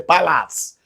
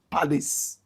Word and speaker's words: Palace: Nigerians will say Palace. Correct pronunciation, Palace.